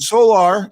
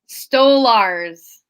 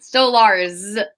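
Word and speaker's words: Stolarz: And Solar, is that how you say it? Solar? Stolars. Solars. There's a Z. Stolars. There's a Z like zebra.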